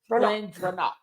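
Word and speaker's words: GlenDronach: It's Glen Dronach. That's how you say it.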